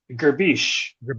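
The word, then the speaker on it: gribiche: What is am I pronouncing this right? Grabiche? Grabiche.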